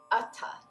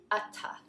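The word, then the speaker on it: atha: Atta. Both A's are the sound, and the TH is not a th, but a t. A little extra air comes out after the T sound. Atta, atta, atta.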